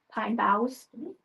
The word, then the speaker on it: boughs: probably butcher it, but the pinea boughs. Boughs. B O U G Hs. Pine boughs.